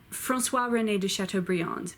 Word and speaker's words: Chateaubriand: Liaisons Francois shiny de chateaubriand from swap her nay do sharp tool Billy Francois rené de chateaubriand but in both English and French most the time you just call him Chateaubriand stone died stone died